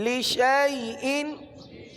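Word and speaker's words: لِشَاْيْءٍ: چونکہ الف پر گول دائرے کا نشان آ گیا، الف ختم ہو گیا، الف کو نہیں پڑھنا، شین کو یا کے ساتھ ملا کر پڑھنا ہے۔ اب مثال کے طور پر اگر اس کی ہجے کی جائے تو شین یا زبر شئی، شین یا زبر شئی، یوں پڑھا جائے گا۔ لشیئن، لشیئن، آگے ہے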